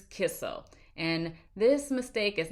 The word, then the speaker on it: Kissel: It's not Kissinger, it's not Kissler, it's not whatever else I may say. It is Kissel.